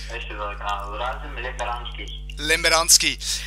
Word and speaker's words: Rasim Lemberanskij: Sein Name ist Rasim Lemberanski. Ich hoffe, ich habe es richtig ausgesprochen. Er ist, ja. Ist das korrekt ausgesprochen, Rasim? Ja, ist richtig. Rasim Lemberanski.